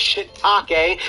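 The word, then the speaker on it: shiitake: of history i know what it is it's shitake but it's spelled take this game looks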